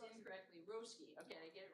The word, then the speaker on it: Roske: And we would like to recognize the winner from Moriarty, Jude Roske. Roski. I pronounced it incorrectly. Roski.